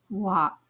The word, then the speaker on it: walk: wall tall talk walk in talk and walk the L is silent we don't hear it talk walk the a sound can